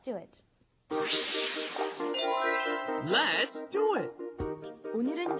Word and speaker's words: 오늘은: It's not 오늘은. You cannot do all. It has to be 오. 오늘은, and then 늘 is a little difficult to pronounce too because there's no in English.